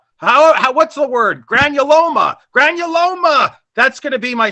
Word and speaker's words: granuloma: I'm not even going to, I'm going to pronounce it like Judah, a granola. What's the word? Granuloma.